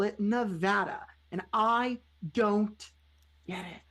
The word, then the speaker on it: Nevada: Nevada is a Spanish word. So, one would think it should be pronounced Nevada, but they call it Nevada.